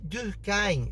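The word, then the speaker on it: Durkheim: dos pensadores clássicos em dur em é assim pronuncia tá vendo em e todo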